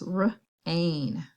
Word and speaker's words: rain: The I is silent, and the word is rain.